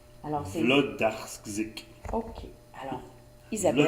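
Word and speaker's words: Włodarczyk: On prononce comme un V. Hein? Oh, Ouais, comme on dit pas wa, on dit va. alors c'est... Vlodarczyk. OK. Alors, Isabelle Vlodarczyk.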